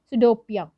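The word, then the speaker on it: pseudopodia: उसे बोलते हैं सिडोपिया। पी जहाँ पे साइलेंट है, सिडोपिया।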